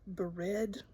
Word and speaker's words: Bered: between Kadesh and, I have a hard time pronouncing, Bered, B-E-R-E-D.